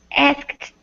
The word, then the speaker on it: asked: Some people don't pronounce the key. The K. The K. I'm sorry. The K. Sorry. Okay. Asked. Asked. I You're right. Some people do that. I mean, I think most people do pronounce the K, and the one